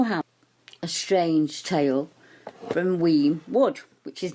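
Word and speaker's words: Uamh: The name Weem was developed from the Scottish Gaelic, and the word is spelled A-U-A-H-M, and that's Weem in Gaelic, meaning cave.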